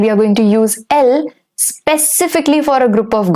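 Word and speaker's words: elles: are going to use l specifically for a group of girls all right only goals so it's l again in ill and L the S remains silent there is a change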